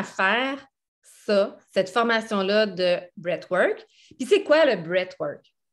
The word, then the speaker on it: breathwork: Puis en quoi le breathwork peut être vraiment moi, je ne le prononce jamais de la bonne façon, je vous le dis tout de suite, là, c'est breathwork. Mais je le dis toujours breathe.